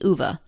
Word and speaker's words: Ove: Ove is how the narrator of the book, the audiobook, pronounces it, and it's also how the actors in the Swedish language film pronounce it. Ove. O-V-E. So I'm going to go with Ove.